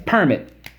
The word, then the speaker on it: permit: let's go per MIT the permit accent is on the first syllable per MIT permit and